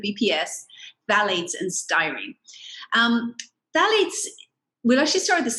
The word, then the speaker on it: phthalates: um phthalates we'll actually start with the second phthalates and this is one it's very tricky to um actually pronounce ignore the t the ph at the beginning it's really the pronunciation is t-h-a-l-a-t-e-s phthalates and their plasticizer um used to make things